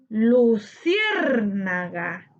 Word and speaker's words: luciérnaga: Luciérnaga, luciérnaga. Luciérnaga tiene su sílaba tónica en cier, correspondiente a la antepenúltima sílaba.